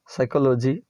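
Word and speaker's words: psychology: गए जाने वाला गाउन इसको बोलते हैं शान साइकोलोजी मनोविज्ञान साइकोलॉजी उन्हें विज्ञान निमोनिया में जलन भी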